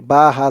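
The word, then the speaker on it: بِهْ: এখানে তেমন উচ্চারণ হবে বা হা জের বিহ এমন উচ্চারণ হবে লানাবিহ এই হার নিচে যে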